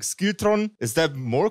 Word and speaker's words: SKILTRON: Gäste mit am Start, nämlich die zauberhafte Band SKILTRON. Did I pronounce that right? Perfect. I thought it would have a more Scandinavian ring to it when I say it. Like SKILTRON, is that more correct?